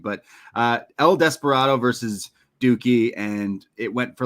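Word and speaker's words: Douki: this name because I always say dookie it's dookie yeah it's pretty much what this match was a dookie I'm sorry dookie but uh El Desperado versus dookie and it went for like five minutes or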